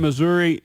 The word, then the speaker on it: Missouri: Where is that located in Missouri?